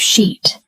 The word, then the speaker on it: sheet: This is why we need to practice the long e sound. Let's do it together. Sheet. Sheet. Sheet. Now, for contrast, let's do the short version. S C completely different meaning.